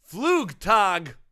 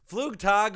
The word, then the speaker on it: Flugtag: Flugtag. Flugtag. Oh. Flugtag. Flugtag. I know this one. Are you just Flugtag.